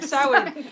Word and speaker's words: Samhain: I think it's Samhain.